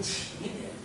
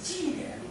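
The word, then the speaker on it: 奇点: 下，那个应该读成奇点，有人读奇点，我是不同意的。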